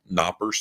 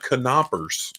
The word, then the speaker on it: Knoppers: It's a 6-pack of Knoppers. Okay, so I think this is one cookie. It is. Okay, so I thought maybe it was 2. It's Adam Bowman. The K is silent, apparently, like me on the phone.